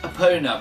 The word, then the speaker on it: Epona: and before you comment below I know it's pronounced Epona but me growing up as a kid I've